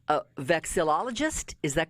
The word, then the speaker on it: vexillologist: one the first question i i tried to pronounce this correctly a vexillologist is that correct that is correct yes that's